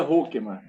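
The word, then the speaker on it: Hoekema: Pronuncia Hokeman.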